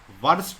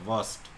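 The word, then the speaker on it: worst: superlative degree होता है वर्स्ट वर्स्ट नहीं बोलते आर साइलेंट वस्ट वस ठीक है यह दोनों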